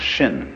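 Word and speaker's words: 心: pacify my my mind in Chinese mind is um this word pronounced shin and shin is here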